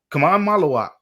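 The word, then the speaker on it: Khaman Maluach: Kamai Maluak. That is impressive. That is excellent pronunciation.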